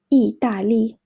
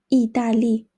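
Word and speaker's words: 意大利: one Italy Italy is 意大利意大利 it's kind of similar to English I think the pronunciation 意大利 and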